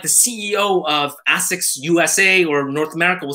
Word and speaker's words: ASICS: And so even like the CEO of Asics USA or North America will say Asics. And if I say Asics, they'll correct me, but I'm like Japanese. I'm like, it's pronounced Asics.